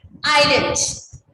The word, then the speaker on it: island: this island why because island s is silent yes because s is silent so how women pronounce